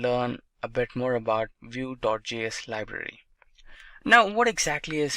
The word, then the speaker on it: Vue.js: Vue.js is commonly referred to as Vue and pronounced as Vue.js or Vue is rightly so.